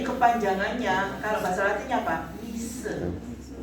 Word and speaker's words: Misce: Mise. Bacanya mise, tulisannya apa? Misce, gitu ya.